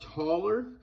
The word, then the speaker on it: Thaler: It was from the like 17 and 1800s in Austria, and you can see on there it's written Thaler, but it's pronounced taller.